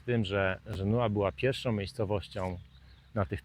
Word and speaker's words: Genoa: Jest Genua we Włoszech, natomiast tutaj nazwę miejscowości wymawia się Genua.